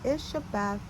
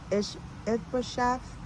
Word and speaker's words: Ishbosheth: When Ishabeth, I know I pronounced that wrong. Ishbosheth heard about Abner's death at Hebron, he lost all courage, and his people were paralyzed with fear.